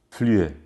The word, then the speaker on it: Flüe: Flüe se escreve F-L-U-E com trema em cima do U. Flüe.